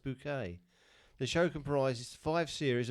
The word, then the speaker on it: Bucket: the main characters are snobbish hello middle class social climber named hyacinth bucket played by patricia rutledge who insists her surname is pronounced bouquet the show comprises five